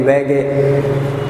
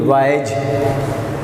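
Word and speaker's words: Waage: इसको कोई वैग कहते हैं, कोई वैग, लेकिन अगर आप इसकी प्रोनाउंसिएशन किसी अंग्रेज़ से सुने तो वो इसकी वाइज प्रोनाउंसिएशन देगा।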